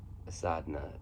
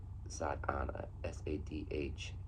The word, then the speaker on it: sadhana: In Sanskrit, there's a word, um, sadhana, and that's how I've heard it pronounced, by the way.